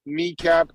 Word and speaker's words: Nekap: Anyway, I'm on Twitter, Kneecap, NEKAP, like the first 2 letters of and the first 3 letters of.